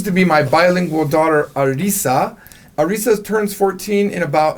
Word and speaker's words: Arisa: guest who happens to be my bilingual daughter Arisa.